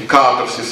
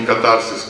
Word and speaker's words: катарсис: Эти катарсис, а не катарсис, как вы говорите. То есть мы сейчас посадим тут всех филологов, и они будут до вечера спорить, катарсис или катарсис. Есть две секты, которые по-разному ставят ударение.